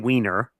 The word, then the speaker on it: Wiener: John Wiener, yes, that's how you say his name, from